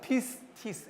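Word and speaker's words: πίστις: 뭐라고 읽냐면 pistis 이렇게 읽습니다.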